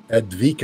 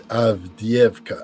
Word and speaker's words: Avdiivka: I think it's not Advika. I think it's Avdiivka.